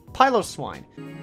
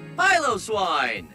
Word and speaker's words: Piloswine: people learn these differences I like to rest my head against a pillow however apparently that's not how you pronounced piloswine piloswine you don't want to rest your head against that here's one that I